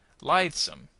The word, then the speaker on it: lithesome: Lithesome on the first syllable.